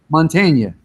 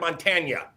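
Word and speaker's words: Mantegna: Mantagna. Yeah, I said like Mantagna, and people always messed with me.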